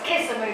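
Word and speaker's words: Kisumu: But it's K-I-S-U-M-U. I just pronounce it like a spell. So they told me I was pronouncing it wrong. But I don't remember what they said. So it's kissing me to me.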